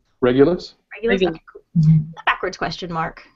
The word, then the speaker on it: Regulus: So, that's the bright star regul. Um, did I pronounce that right? Regulus.